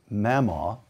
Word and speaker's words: Mamaw: raised for the most part by his grandmother, Mamaw. Did I pronounce that correctly?